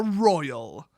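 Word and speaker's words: roil: fourth take is collectively referred to as the royal that's r-o-i-l god i almost spelled it wrong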